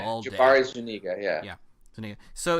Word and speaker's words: Zuniga: Jabari Zuniga, Yeah, Zuniga.